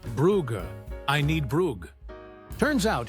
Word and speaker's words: Bruges: She needed to get to Bruges, but kept pronouncing it Brugge, like it rhymed with hug. The attendant kept saying Brugge with the correct pronunciation.